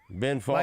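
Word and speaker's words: Fawkes: ding how do you say f a w KES Fox Okay Ben Fox like he's wearing a guy Fox mask he used to be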